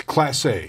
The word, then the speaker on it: Clase: right the back end of the bullpen let's pronounce the Emmanuel's last name of no it's classy classy I hope he's better than a class